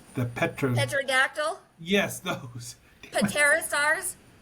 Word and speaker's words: Pterosaurs: Pterosaurs? The P is silent.